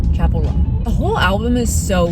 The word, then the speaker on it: Chappell Roan: I used to mispronounce her name. I did used to say Chappell Roan. Chappell Roan.